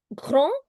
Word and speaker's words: grand: Grand, which is masculine, in feminine changes to grande. The same word in pluriel changes to grand. No pronunciation change.